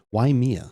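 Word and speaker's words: Waimea: W A I M EA because you pronounce the I as correct because the rules of the road, but probably not then based on how things go. Why Mia?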